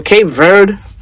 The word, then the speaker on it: Cape Verde: As for Cape Verde is how you say it.